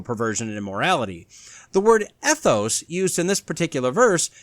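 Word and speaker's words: ἔθος: Now this is derived from a Greek word that sounds the same.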